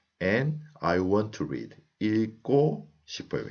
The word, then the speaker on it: 읽고: 읽고 싶어요. Here also, I pronounce 일, and when 그 goes up, it becomes 고.